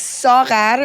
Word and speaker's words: Saghar: Her name is Sar. If you guys have a problem pronouncing the gh, she did say that some